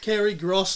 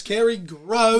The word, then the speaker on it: Kerry Gros: Thank you, Kerry Gros, Not Kerry Gros, not Kerry Gros, Kerry Gros. The S is silent.